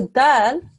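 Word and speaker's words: دال: Now the dal, okay, the way you pronounce it is take the tip of your tongue and you touch the top of your mouth just behind your front teeth, okay?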